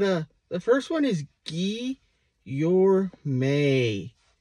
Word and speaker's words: Guillorme: the first one is ghee you're May it's not Guillermo it's guillorme next there's a lot